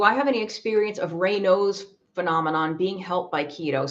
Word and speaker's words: Raynaud's: Raynaud, Raynaud's phenomenon, or Raynaud's syndrome, or Raynaud's, I think it's pronounced Raynaud's.